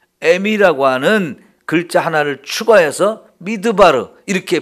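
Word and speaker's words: מדבר: 말씀이란 단어 앞에다가 미라고 하는 글자 하나를 추가해서 미드바르 이렇게 발음을 하는데요 그 무슨 뜻이냐면 말씀이 있는 곳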